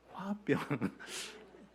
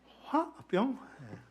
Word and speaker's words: 화병: 그 스펠링은 이러합니다. H 그다음에 W A 그리고 대시하고 BYUNG. 혹시 아십니까? 발음이 잘 되십니까? 화병. 화병?